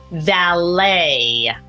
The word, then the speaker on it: valet: there's a final t valet again final T when you're writing it but we don't pronounce that final t ballet debut and Chalet